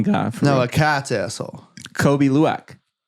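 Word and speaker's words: Kopi Luwak: What is it, Kobe Lack? Kobe Luwak. I'm going to act like I know how to spell that.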